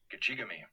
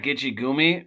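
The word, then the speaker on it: Gichigami: And then you have Gachigami, Great Lake. Lake Superior. And some pronounce that Gitchigumi, so either pronunciation is correct.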